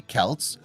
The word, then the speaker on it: Celts: the romans belief the celts pronounced with a hard c or k sound were anything but barbarians